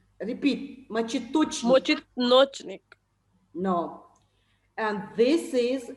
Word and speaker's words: мочеточник: Ma'am, it is called Mochitnochnik. No. Мочеточник. Repeat. Мочеточник.